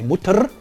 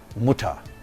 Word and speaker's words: Mutter: voiced velar fricative cutter in syllable final position the orthographical r is often realized as a low central vowel as in mutter so we don't say mutter but muta an interesting phoneme which